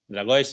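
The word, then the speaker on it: Dragões: conceal the coach of dragois dragois is the right pronunciation yes of Porto so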